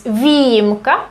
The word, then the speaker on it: výjimka: here over the I, but it's above Y. So this is good to remember that it's výjimka, an exception, although we kind of pronounce it like výjimka. So that's why it's so difficult to distinguish where the E actually is.